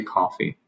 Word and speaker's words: coffee: A very simple difference maybe in the pronunciation of the vowel. a bit more closed. I would just say coffee.